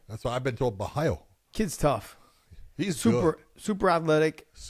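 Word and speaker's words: Borralho: Is it Bahalo? Bahayo. Okay. That's what I've been told. Bahayo.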